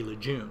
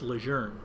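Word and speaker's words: Lejeune: I keep saying Leger because that's the way the family wants it pronounced. We used to say Ljun, right? It's Leger.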